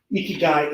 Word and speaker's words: ikigai: two is the japanese what called hiki guy ikigai is spelt iki that is reason or purpose of